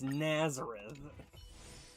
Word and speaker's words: Nazareth: You know, it's a minor thing, but for some reason, the fact that that the TTS couldn't get the pronunciation right on that annoys me slightly. It's Nazareth, and I'm not even a religious person.